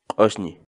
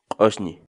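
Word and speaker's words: q'usñi: série de vídeos onde nós ensinamos você a pronunciar determinadas palavras em Quechua. Portanto, a nossa palavra do dia para hoje é... Osni. Osni.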